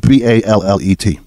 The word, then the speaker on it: ballet: we no joke how do we pronounce the word b a l l e t it's it's a form of dance a b ballet yeah ballet also in French ballet have you ever heard ballot here um I have not